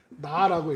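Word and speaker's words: נא: 이제 히브리어로 이게 이런 단어가 하나 포함되어 있는데 이게 나라고 읽어요. 나 말고 그냥 나예요.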